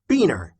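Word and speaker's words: Buehner: Beaner is Carolyn Beaner's husband, and their last name is pronounced Beaner.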